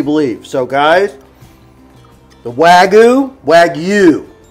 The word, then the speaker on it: Wagyu: So guys, the Wagyu, Wagyu, because that's how it's spelled. It's W-A-G-Y-U, which says that you pronounce that as Wagyu.